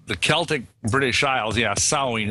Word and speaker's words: Samhain: Yeah, in the Celtic British Isles, yeah, Samhain. It's spelled S-A-M-H-A-I-N, but we say it as Samhain.